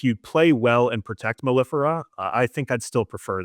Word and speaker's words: Mellifera: I think like Maleficent. That's what I'm pronouncing it as, like Mellifera, like Maleficent. Yeah, I thought I read